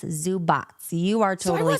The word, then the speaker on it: Zubac: And I looked it up, and it says that the C in his last name is TS, Zubats.